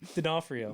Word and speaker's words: D'Onofrio: D'Onofrio.